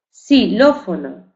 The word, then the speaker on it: xilófono: Si tenemos xilófono, aunque esté escrito con X, no decimos quilófono ni exxilófono, no, decimos la pronunciamos con la letra S, aunque tenemos que saber que la escribimos con X.